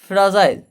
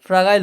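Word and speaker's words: fragile: তারপরে হচ্ছে ফ্রাজাইল। দেখো এর আসল উচ্চারণ হচ্ছে ফ্রাজাইল, কিন্তু উচ্চারণের সুবিধার জন্য আমি এটা ফ্রাগাইল বলবো, ঠিক আছে?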